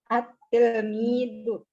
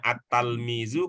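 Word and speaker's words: التلميذ: At-tilmidu. Iya, baik. Kalau di sini itu yang kita pakai ya, Pak Azhari ya. Mungkin Bapak di tempat lain membacanya at-talmizu, kalau di sini at-tilmidu.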